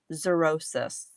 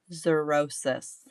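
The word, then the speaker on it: xerosis: Zerosis. Everybody say it out loud. Zerosis. No, not psoriasis. Zur as Z. Zurosis. It's spelled X E R O S I S.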